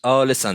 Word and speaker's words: Alisson: Is it Alisson, or how do you correctly pronounce it? Alisson.